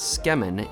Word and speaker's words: tsukemen: There are basically only two items on Okiboru's menu, the Tsukemen, which I've also heard pronounced as Tsukemen, and the Tantori Ramen.